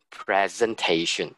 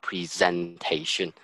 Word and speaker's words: presentation: So when you turn it into a noun, you still maintain the noun pronunciation. Is actually presentation, not presentation.